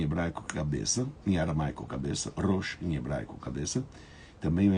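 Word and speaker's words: ראש: Já em hebraico a gente pronuncia Rosh.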